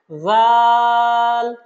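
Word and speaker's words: ذال: জাল হরফটা খুবই সহজ। আমরা সা যে জায়গা থেকে উচ্চারণ করেছিলাম অর্থাৎ জিহ্বার আগা উপরের দাঁতের আগার সাথে ঠিক একইভাবে জাল হরফটা উচ্চারণ করতে হবে। বলুন আমার সাথে।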